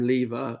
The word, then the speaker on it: Lever: a lot because um having the last name lever which rhymes with beaver beaver and having buck